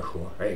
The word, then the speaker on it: Axoa: Alors la Shoah au Pays Basque, c'est un émincé de veau, ça s'écrit Axoa, mais ça se prononce à Shoah.